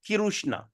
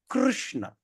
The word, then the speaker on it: Krishna: going to pronounce okay the pronunciation is kishna okay or you also can pronounce it like Krishna of course you don't say kishna so Krishna okay example when you